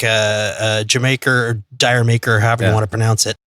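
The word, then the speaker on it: D'yer Mak'er: a pronounced I mean you read it in you know an American reason it's dire maker what the hell is that but the way a cockney person would pronounce it is Jamaica as in did you make her so the names a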